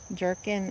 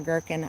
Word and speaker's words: gherkin: Mexican sour jerkin Is it jerkin or gherkin? I never I think it's gherkin. Gherkin.